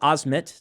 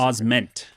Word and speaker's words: Osment: Haley Joel Osmond is is Osmmet. Did I pronounce Osment? Osment. Joel Osment.